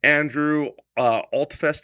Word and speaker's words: Andrew Altfest: Now, this is founded by Andrew Altfest, is how you say his name, a practicing CFP.